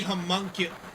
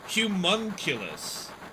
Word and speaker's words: homunculus: It's probably homunculus. Is it homunculus? Is that how you pronounce that word? I always say I started with human and then it's like humunculus.